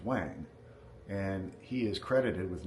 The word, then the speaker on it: Huang: uh one quick note Wang if you'll notice is spelled h UA n g that is the first emperor of China one of his names it's Wang and he is credited